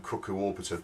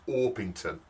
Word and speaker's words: Orpington: I I suggested um cooku oron now when I said this on the video it sounded more like cooku waron and and I'm sorry for my pronunciation but it's it's orpington um and if you